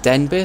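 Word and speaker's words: Denbigh: or Denver or simulator as I was told by my nan who grew up in rel to pronounce it den beer so that's how I'm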